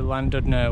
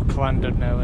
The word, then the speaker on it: Llandudno: But today we are heading from Abergele and Pensawn all the way down to Llandudno, or Llandudno if the Welsh pronounce it that way.